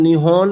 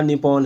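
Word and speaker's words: 日本: याद रखिए, जापान के लिए प्रयुक्त होने वाले जापानी शब्द का उच्चारण निहोन या निप्पॉन है।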